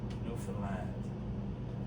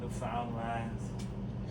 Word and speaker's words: Newfoundland: Newfoundland, a blue star is a beer, and it's pronounced Newfoundland. Not Newfoundland, not Newfoundland.